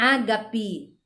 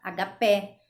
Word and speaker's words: ágape: gente acaba pronunciando álibi o ágape a gente fala aghapé então acaba distorcendo aí a sílaba tônica no momento da pronúncia agora existe algumas palavras